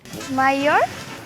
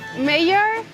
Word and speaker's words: mayor: You don't pronounce the R sound at the end.